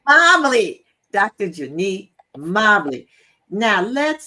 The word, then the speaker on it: Mobley: God, I'm getting ready to do her last name wrong again. Say it again. Mobley. Mobley.